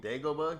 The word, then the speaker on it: Dagobah: to I'm Dagobah.